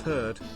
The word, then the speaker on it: heard: of less familiar traps beware of heard a dreadful word that looks like beard and sounds like bird and dead it's said